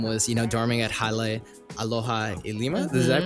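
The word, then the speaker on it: Hale Aloha Lima: some of them was, you know, dorming at Halle Aloha Lima. Did I pronounce that?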